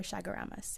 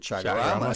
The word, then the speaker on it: Chaguaramas: commemoration of the signing of the Treaty of Chaguaramas in 1973 to create CARICOM. Okay. Well, there you go. And then when I read the word, I didn't pronounce it Chaguaramas.